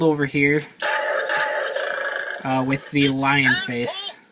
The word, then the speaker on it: LiOh: rabbit to form gobus Lio and then or it's it's technically like Leo but the way the Japanese pronounce it ends up being Lio but um that and